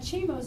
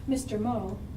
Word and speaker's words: Chimo: It's just your name is, like Chimo's name is Chimo. It's not Mr. Mo. Hey, Chi, how you doing? It's Chimo. It's just one word, that's his name.